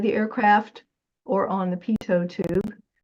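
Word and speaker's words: Pitot: and it's called the PTO tube. Notice how it's pronounced. PTO. That's because it's French and a number of parts of the airplane are French words because the French were instrumental in early design of aircraft.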